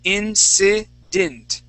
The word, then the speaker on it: incident: t at the end instead of saying dant okay you're saying incant we want to say incident incident incident okay one more